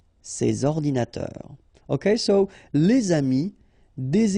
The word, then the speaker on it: ces ordinateurs: and then ordinateur, computers, so you should make the liaison between s and o, ces ordinateurs, ces ordinateurs.